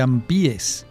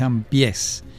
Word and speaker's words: Ampiés: Por cierto, cuando estábamos en la escuela primaria, pronunciábamos mal el apellido y decíamos Juan de Ampiés. No, es Ampiés, porque es una contracción, su apellido era una contracción de la expresión ambos pies.